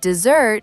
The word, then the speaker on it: dessert: And dessert is the hot, dry place with sand, like the Sahara. The trick is the stress. Dessert. The stress is on the second part.